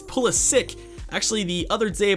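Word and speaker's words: Pulisic: up in their ratings yes I did just pronounce pulit differently than I usually do it's pulik actually the other day I believe three days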